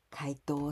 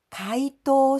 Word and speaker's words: 解答: explain the difficult matters 回答します this other verb 解答します so the same pronounciation and same intonation 回答します diff